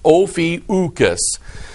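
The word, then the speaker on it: Ophiuchus: about it and it actually said it is pronounced ofius so okay his name is ucus there's another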